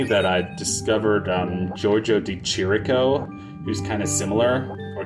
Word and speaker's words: Chirico: But it wasn't until recently that I discovered Giorgio di Chirico, who's kind of similar, or Chirico. Someone told me recently that CH in Italian is actually pronounced K, where just a C